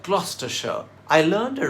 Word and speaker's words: Gloucestershire: This city in southwest England is pronounced Gloucester, and the county it's a part of is not pronounced Gloucestershire, but Gloucestershire.